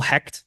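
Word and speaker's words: Hoecht: maybe converted defensive tackle Michael hect who pronounces his name Hoy for some reason because he doesn't know German uh he will no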